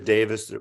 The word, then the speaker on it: Davies: off and it is Davis we have the whole thing of Davies I don't want to repeat that again that's how he pronounced Davis even though it's spelled Davies but there's a million